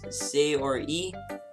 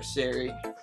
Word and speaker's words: Sayori: So it's Sayori. I've just called her Sari, but whatever.